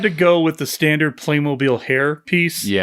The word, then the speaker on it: Playmobil: Um they also, if you haven't seen it, there's a Playmob, how is that pronounced? Playmmobile. Playmobil. Yep.